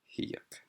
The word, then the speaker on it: Hiyuk: Hiyuk. Wait a minute. I've used that before, haven't I? Yuck. Okay. I guess stress is on the second syllable there, even though it wasn't here.